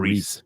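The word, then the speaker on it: Rhys: Rice, is it Rice? Or Reese.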